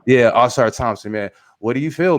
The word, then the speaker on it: Ausar Thompson: How do you say his name? Ausar Thomas. What's his name, man? Thompson, yeah. Yeah, Ausar Thompson, man.